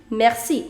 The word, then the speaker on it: merci: going to apply why because see if it is followed by the vowel i the pronunciation is already sir so you say merci there is no point